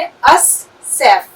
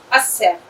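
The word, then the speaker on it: السيف: इसलिए जब हमने अलिफ-लाम लिखा, क्योंकि यह एक अरबी अक्षर है, तो हमने अल-सैफ लिखा। लेकिन जब हम इसे पढ़ेंगे, तो हम इसे कैसे पढ़ेंगे? अस-सैफ। देखो, इस तरह। सही? अस-सैफ, इसलिए यह बहुत ही आसान तरीका है।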